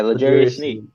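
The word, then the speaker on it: L'Jarius Sneed: Yeah, Legarius Sneed.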